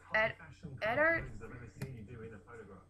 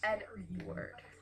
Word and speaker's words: Eddard: So north, south, east, and west, and like it's really focused on the Stark family and Eddard. I've been pronouncing it Edward, but it's not Edward. It's Eddard.